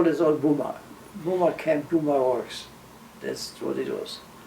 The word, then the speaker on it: Buma: Buma. How do you spell that? Buma works, B-U-M-A, works, W-O-R-K-S. You say Buma is B or P? B, B is in boy.